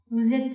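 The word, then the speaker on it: vous êtes: 法语里面，Vous êtes Monsieur Sacha？ Vous êtes Monsieur Sacha？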